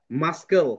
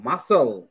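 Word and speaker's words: muscle: তারপর আমরা এইটাকে পড়তাম মাসকেল। কিন্তু মাসকেল পড়ি না কিন্তু। এটা হবে মাসেল। তারপর এটাকে আমরা পড়তাম স্কিন।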